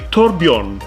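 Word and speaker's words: Torbjørn: Okay, so معاي داخل الاستوديو هنا كان ضيفي في نغم الصباح معاي توربيون.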